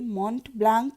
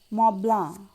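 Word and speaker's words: Mont Blanc: ফেলুদা বলল, তা পাবো, তবে মন্ট ব্লাঙ্ক নয় লালমোহনবাবু। এখন ইউরোপে এসেছেন, এখানকার দ্রষ্টব্যগুলোর নামের উচ্চারণ ঠিক করে করতে শিখুন। ওটা মব্লাঁ, তার মানে অনেকগুলো অক্ষরের কোনো উচ্চারণই নেই। ফরাসিতে সেটা খুব স্বাভাবিক।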